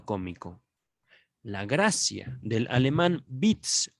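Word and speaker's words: Witz: la gracia del alemán bits o tweets bits creo que se pronuncia con la la w en alemán se pronuncia como la uve de latín a la gracia o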